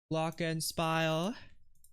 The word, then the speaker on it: Glockenspiel: Glockenspiel. That's how you pronounce it.